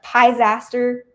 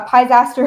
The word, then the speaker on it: Pisaster: O C H R E or Pisaster. It rhymes with disaster but with a P instead of a D. Uh, Pisaster.